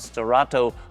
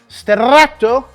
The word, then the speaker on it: Sterrato: you more about what makes the Lamborghini Huracan Stato the Stato and not just a Huracan again Str sorry let me say it right Str means dirt road it might be dark on